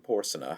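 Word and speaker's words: Porsena: The penultimate syllable of the name Porsa has been shortened in spite of the authority of Neber who pronounces without assigning any ground for his opinion that Marshall was guilty of a decided blunder in the line.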